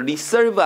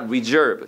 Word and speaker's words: reserve: 발음 조심하라. reserve 아니야. 발음 따라합니다. reserve 시작. reserve 발음 주의하시고요.